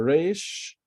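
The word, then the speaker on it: ר: Now don't mix between the resh, and the kuf.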